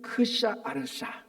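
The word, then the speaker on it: Xšayaršā: 이게 페르시아식 표현하면 제가 자꾸 외화도 안 되더라고 이게 그래서 읽었더니 크샤 아르샤 크샤 아르샤랍니다.이 그러니까 히브리 의식으로는 아하수엘르 왕인데 페르시아로이 페르시아 발음은 크샤 아르샤인데요.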